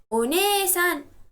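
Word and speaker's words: お姉さん: Somebody else, older sister is one-san. Just like we stress the syllable ni over here we stress the syllable ne.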